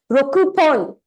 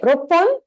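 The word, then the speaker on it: 六本: Basically, this rule, this kind of thing exists because it's hard to pronounce otherwise. Rokupon. It's a lot of effort, right? Roppon. It's easier. There's less movement in the tongue.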